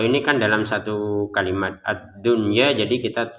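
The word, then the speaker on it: الدنيا: Untuk kata ad-dunya kita bacanya jelas. Jadi nun sukun bertemu ya tapi di dalam satu kata ya.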